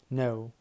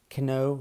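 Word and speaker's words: know: هننطقها الكاي بعدها ان الكي تعتبر ايه سيلنت يعني لا تنطق مثل نو اي نو انا عارف اي نو انا عارف ده ما تقولش كو لا نو نو نو اي دون نو اي نو هي ما تقولش بقى كو الك هنا سايلنت ني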